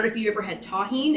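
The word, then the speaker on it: Tajín: So the closed captioning did not spell it correctly, but anyway, you saw me spell it Tajin, but it's pronounced tahine.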